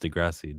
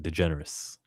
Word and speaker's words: Degrassi: He mispronounced Degrassi. Degenerous.